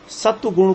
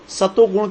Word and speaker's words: सत्व गुण: उच्चारण करते हैं तो कुछ लोग सत्व गुण को सतो गुण कह देते हैं, जो ठीक नहीं है। सतो गुण नाम का कोई शब्द नहीं है, हमको हमेशा सत्व गुण कहना चाहिए।